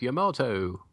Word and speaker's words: Yamato: I'm Peter and I'm bringing the battleship Yamato. It rhymes with tomato.